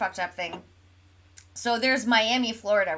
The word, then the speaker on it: Miami: in Oklahoma too but you know how they pronounce it can you guess is it like Will Smith Miami no think way more country welcome to Miami no it's miam no no no no